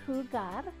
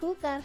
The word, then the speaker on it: jugar: It's a verb, and the word is jugar, to play. Now, jugar starts with the letter J, and J is pronounced like H in Spanish.